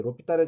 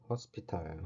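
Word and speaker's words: L'Hôpital: 자, 그래서 여러분들 이제 로피탈의 정리는 뭐 잘 아시겠지만 그래도 한번 해보면 영어로는 허스피탈이에요. 허스피탈. 그 다음에 우리가 그냥 발음은 로피탈, 우리가 로피탈 이렇게 읽었는데요.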